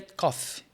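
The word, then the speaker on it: cough: café coffee toir é cof então a diferença da pronúncia é que Coffe tem um sonzinho de no final Coffee o outro é cof com som de F aí ele falando Cuidado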